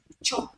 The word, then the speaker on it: chop: prepare your fried rice chop carrots don't say I shop if you shop that's s h o p if you Chop Shop Chop Chop I'm not pronouncing the same thing can you see that